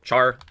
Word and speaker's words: char: Then the next data type we have is char meaning character. Char pronounced like the word charizard.